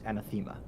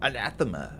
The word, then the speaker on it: anathema: The correct pronunciation is anthemma. Yeah, that's what I thought. So, too. And I've got people playing vampire when we're playing, you know, anthemma and they go anathema.